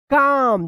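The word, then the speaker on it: calm: Y slowly and stay काम देखिए यहां पे एम से पहले एल आया है तो क्या होगा कि एल जो है ना साइलेंट रहेगा तो इसको क्या पढ़ेंगे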